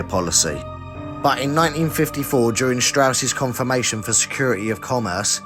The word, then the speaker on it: Strauss: nuclear weapons L Strauss it's pronounced Strauss the atomic energy commission